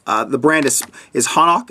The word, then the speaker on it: Hanak: It's the brand is Hanak. It's spelled H-A-N-A-K.